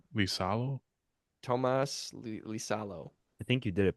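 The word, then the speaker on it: Tuomas Iisalo: Oh, I can't even pronounce that I name. believe Tomas T- Lisalo? Tomas Lisalo.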